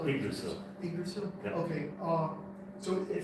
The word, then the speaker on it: Yggdrasil: do you pronounce it Yggdrasil? or Yggdrasil.